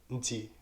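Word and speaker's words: نتي: Donc ça sonne comme Nti ou Nta. Comme pas de alif.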